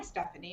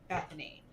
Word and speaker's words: Bethany: and stuff with people whenever i say my name is bethany they're like oh hi stephanie and i'm like no it's bethany and so it just